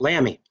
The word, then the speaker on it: Lamie: So, I'm going to is it is it Lammy? How do you say your last name? Yes, Lammy.